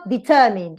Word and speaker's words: determined: So the stress goes to the preceding syllable.